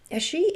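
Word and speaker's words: sidhe: You might hear it spoken differently in Irish Gaelic dialect, but she is the commonly accepted, I think, and most accessible pronunciation in our English-speaking magical and folklore communities.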